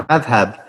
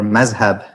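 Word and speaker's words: madhhab: So, that term madhab in Arabic, or mazhab in Persian, Turkish, Urdu pronunciation.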